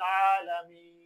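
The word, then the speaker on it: العالمين: এটা হবে আলহামদুলিল্লাহি রাব্বিল আলামিন।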